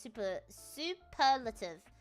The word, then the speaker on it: superlative: In English, it's pronounced superlative. Superlative. Superlative. Superlative. Okay. It's like laxatives, but the per is pronounced as in per gram.